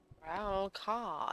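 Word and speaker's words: Rawl'kha: Bandari Trading Post, and Satari in Raurka. Ralkar. That's how you pronounce it. I always thought it's Ralkar, but Ralkar.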